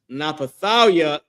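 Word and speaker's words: נפתלי: Their name is Napathalia in Hebrew. This is the Hebrew pronunciation of their name.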